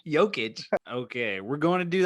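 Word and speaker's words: Jokić: I honestly, the Jokovic is like every Jokovic. You're adding syllables. Jokovic. Adding. Jokic.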